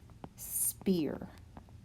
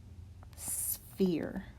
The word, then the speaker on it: sphere: not spear it's pronounced sphere and it's a little tough to say you you have a pH there that sounds like an F so a sphere is